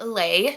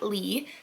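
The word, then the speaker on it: Lei: Her name is pronounced Lay, not Lee.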